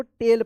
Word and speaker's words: tail: टेल पढ़ेंगे, AI एक साथ रहता है तो ए उच्चारण होता है, ठीक है।